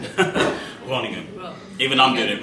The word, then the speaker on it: Groningen: Nobody can pronounce it right. How do I say it? Groningen.